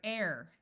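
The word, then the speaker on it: heir: In some words, H is silent at the beginning. EI says A, so here we have the word air.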